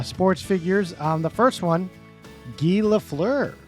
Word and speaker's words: Guy: The first one, Guy Lafleur. Not Guy. No, not it's Guy. Guy. It's French Canadian. It's Yes. like Montreal area.